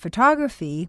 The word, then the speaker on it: photograph: the words photograph and photography each have two o's and an a the first word is stressed on the first syllable so photograph sounds like photograph the second word is